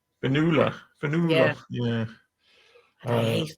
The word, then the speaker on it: Finola: Irish people want to pronounce it Fionnuala. Finola.